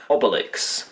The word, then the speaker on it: Obelix: own pronunciation of Obelix which is a pun of Obelisk therefore I should be pronouncing his name Obelix as the Canadian dubbers of this film have done naturally obelix's mind is